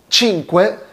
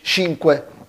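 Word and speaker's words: cinque: اتفقنا للشي اكن قبلها تي خفيفه، بقت تشينكوي مش شينكوي، تشينكوي. ساعات بنسمع الاطالي يقولوا شينكوي، بس مش حكايه صح ولا غلط، هما متعودين على كده، والنطق والديالكتو بتاعهم اللكنه بتاعتهم، بس النطق الصح تشينكوي تشينكوي.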